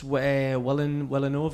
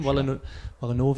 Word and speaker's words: Villeneuve: And Dennis Villeneuve, or is that how you say his name? Villeneuve, I think.